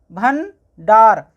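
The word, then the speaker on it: भंडार: इसी तरह इसको पढ़ेंगे भ न, भन, डा, आ की मात्रा डा, र, डार, भन, डार।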